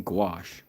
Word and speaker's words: gouache: We're using gouache.